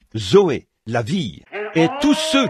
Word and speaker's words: Zoé: ou la vie éternelle on se sert du même mot que l'on prononce Zoé Z e Zoé la vie et tous